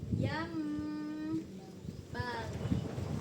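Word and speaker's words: ينبغي: Di sini enggak dikasihnya tadi arah bacanya masih yang bagi ya. Padahal yam bagi yambagi.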